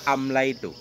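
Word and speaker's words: أمليت: Kaqaulihim, seperti ucapan mereka orang Arab, amlaitu. Ya, orang Arab membacanya amlaitu. Apa makna amlaitu? Bimakna amlal tuh, ya, amlal tuh. Asalnya lamnya dua, tapi diibdal, lam pertama atau lam kedua nanti diganti dengan ya, jadilah amla itu.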